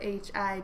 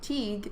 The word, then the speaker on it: Hi-Teagh: This is Hi-Teagh, and that's spelled H-I-T-E-A-G-H, though that may sound like Teague. It is not. It is Hi-Teagh.